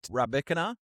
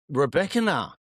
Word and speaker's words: Rybakina: Are you talking about Rybakina? Rybakina.